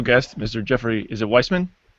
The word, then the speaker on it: Weissman: Is it Weissman? Weissman.